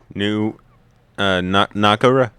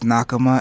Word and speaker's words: Nakama: New Nakara, right? Is that how you pronounce it? It's Nakama and no.